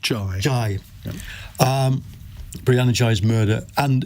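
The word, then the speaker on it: Ghey: Jay's uh murder and we should say it's pronounced ji J um Brianna J's murder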